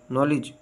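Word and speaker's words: knowledge: honest honour air और silent के के इज not pronounce one follow by एन एट the beginning of the word अ किसी अल्फाज के शुरू में के के बाद एन आए तो के आवाज नहीं देता जैसे नाइफ नी no knock नॉलेज silent L एल इ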